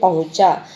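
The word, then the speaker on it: पहुँचा: उच्च मात्रा कछुआ धीरे-धीरे पहुंचा अभय चंद्र बिंदु लग रही है पहूंचा इस तरह हम बोलेंगे इसका उच्चारण फिर है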